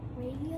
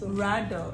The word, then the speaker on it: Rado: Is it radio or rado? It's rado.